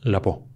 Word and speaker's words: Laveau: Su nombre, Marie Laveau. Se escribe Laveau, se pronuncia Laveau.